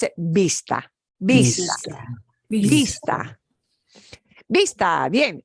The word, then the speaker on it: vista: And when you want to pronounce it, vista, vista, vista, vista. Bien. And that V will sound like a letter B, but soft.